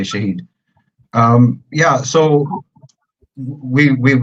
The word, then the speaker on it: Shahid: much uh yeah you're saying my name correctly Shahid um yeah so we we've been focusing on